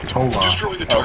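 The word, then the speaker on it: Hola: Yeah, that's how you spell it. It's pronounced Ola.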